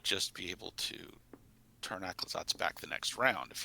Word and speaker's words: Aclazotz: Aclazotz. Aclazotz. Aclazotz. There's a Z in there. It's right there. Aclazotz. Yeah, you say it the way it looks like.